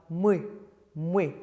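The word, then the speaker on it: мы: So we have mui, mui, which means we. Ti, ti is the intimate version of you, like the tu in French. Oui, oui is like vous in French, the more polite version. Oui, oui. So you've got mui, ti, oui, rather than me or we or ti. It's much more it's a bit darker.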